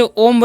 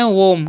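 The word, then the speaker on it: womb: इसी तरीके से ओम नहीं, इसे हम पढ़ेंगे वोम।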